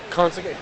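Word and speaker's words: Conceição: Conceicao.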